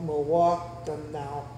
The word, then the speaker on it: Mawakanao: M is a syllable by itself, Mawakanao. There's four syllables, 1, 2, 3, 4, Mawakanao. And then you pronounce them so like that and put them together, Mawakanao.